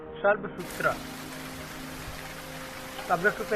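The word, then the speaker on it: Shulbasutra: S dash as in Sushruta and एस एज इन नक्षत्र may be pronounced more or less sh in shall. The Shalbsutra is pronounced as Shalbsutra.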